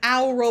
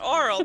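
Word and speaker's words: aural: i could have said owl roll but that's not how you say it no no it's pronounced oral the same way as oral it's very confusing but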